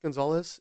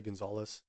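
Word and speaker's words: Gonzaullas: I believe it's pronounced Gonzalez. It's a spelling I've never seen before, G-O-N-Z-A-U-L-L-A-S. If it's pronounced a different way, let me know. I'm not sure. I'm going to say Gonzalez. He was known as, quote, Lone Wolf.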